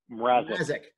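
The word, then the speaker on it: Mrázek: I think how do you pronounce this guy's name? Mrazek.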